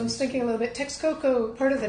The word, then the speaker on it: Texcoco: And the Texcoco were, or probably the Texcoco to pronounce it properly, were a rival tribe.